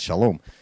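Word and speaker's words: שלום: the Americans you know Americans are hello Shalom they can't say shalom shalom it's shalom so it was in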